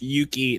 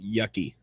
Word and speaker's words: Yuki: yeah, It's pronounced Yuki, not Yucky.